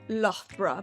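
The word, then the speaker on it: Loughborough: de la Universidad de Lovepw. Corrígeme si es que lo pronuncié bien o no. Lo inglés lo pronuncian así como love pro, pero sí, love está bien.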